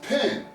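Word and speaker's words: pn: basic committed alphabet glyphs we have the P sound in the n sound is pronounced pen but you may say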